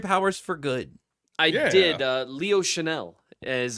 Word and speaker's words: Chenal: Chenal is how you say his name.